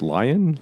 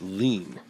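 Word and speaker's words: Lien: Lion lean. Matthew lean. Yeah, it's like a lean. Like a lean holder. So, it's lean.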